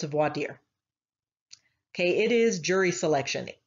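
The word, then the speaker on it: voir dire: vordiar is actually pronounced voideer it is a french term but because i went to school in texas everybody pronounces it here vordyar but if you go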